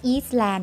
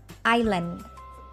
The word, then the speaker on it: Island: ะ ไ ม่ อ่ า น ว่ า Eastland น ะ ไ ม่ ต้ อ ง อ่ า น ตั ว S น ะ ค ะ Island.